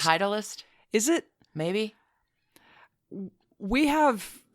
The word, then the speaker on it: Titleist: the golf ball manufacturer whose name is spelled titlist and i'm certain that that is pronounced Titleist is it maybe we